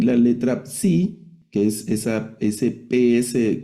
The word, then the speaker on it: psi: La ese psi, la letra se llama psi, es el signo también como de psicología, si recuerdan el signo de psicología, ese sonido ps, ¿no?